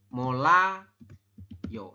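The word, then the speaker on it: 몰라요: kieun atas deh ya m vokal o dan real berarti dibaca mol ya mol kemudian sampingnya R dengan a berarti dibacanya l lagi Mola yo seperti ini maka anda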